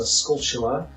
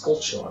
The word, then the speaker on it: Skulltula: I think that's how you pronounce it. I used to say Skulltula, but it then occurred to me years later that the word is obviously supposed to be poking fun at the word tarantula.